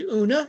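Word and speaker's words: Oonagh: Who are imprisoned by disability and poverty that her best friend was named Una. It's spelled differently. It's given an Irish spelling, but it's it's it's homophonic with uh una na of the very queen.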